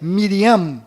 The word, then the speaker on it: Miriam: sofreram mudanças foram Maria que na verdade é Miriam com m mudo no final Rei Davi que na